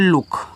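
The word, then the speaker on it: look: L double O के पढ़ते हैं लुक। तो यहां डबल ओ छोटा उ बड़ा ऊ का मात्रा दोनों लगाता है। तो कहीं-कहीं छोटा लग जाएगा। कहीं-कहीं बड़ा और के से का लुक।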